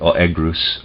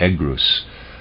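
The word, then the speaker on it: Oeagrus: try and pronounce that Oh egg ruse Oh II a G R Us or egg ruse the Thracian river god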